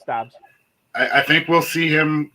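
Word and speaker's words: Doubs: I don't know how to pronounce his last name, but Dobbs. Yeah, you got it. It's Dobbs.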